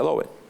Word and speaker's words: Adobe: Así se pronuncia, Adobe.